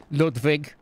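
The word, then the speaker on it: Ludwig: lwig all the time it's German you pronounce the W's as a v l viig I'll Fe is in guys I'm not trying to spread rumors right but ludvig's into prostitutes he's just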